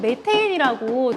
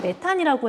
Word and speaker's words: 메테인: 두 번째로 여러분 메테인이라고 들어보셨죠? 옛날에는 메탄이라고 했는데 요즘에는 메테인이라고 얘기를 해요. CH4. 발음이 좀 바뀌었어요. 메테인으로.